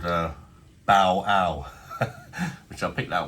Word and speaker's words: Bale: And then Pale does rhyme with Bale.